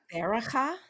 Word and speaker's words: Berachah: is BERACHAH. You've gotten out a piece of paper. BERA. CHAH. Whoa. Baraka? Baraka? That sounded right.